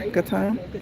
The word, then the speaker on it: Gatun: So, what's going to happen is we are right now on Lake Gatun, Gatton, G A TU N, however you pronounce it. And that body of water over there, Gatan, thank you.